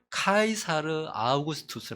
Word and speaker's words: 카이사르 아우구스투스: 이가 이사 아우구스트 도 카이사르 아우구스투스 라고 있는 이렇게 발음하는 데 가 이사 오고 싶어서